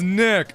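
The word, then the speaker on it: Gnick: Oh, it's pronounced Nick. Okay, like Nat. Like with a silent G.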